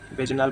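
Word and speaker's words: Wegener: वेजनार भी बोलते हैं, वेगनर भी बोलते हैं जो भी प्रोनाउंसिएशन आपको ठीक लगे।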